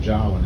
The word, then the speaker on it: Jawoyn: And the name Jawoyn is spelled J-A-W-O-Y-N. Pronounced as if you would say Darwin with a J.